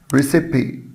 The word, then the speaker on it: recipe: recipe. recipe. recipe. وخلي بالك ان الايه هنا منطوقة.